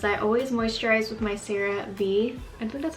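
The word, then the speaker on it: CeraVe: my other videos I always moisturize with my Serie B and so that's how you say it daily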